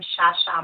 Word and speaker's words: Chacha: So if you go on my Instagram, you would go on I am Shasha. It's spelled like Shasha because my family's from Haiti. So that H sound is that SH sound.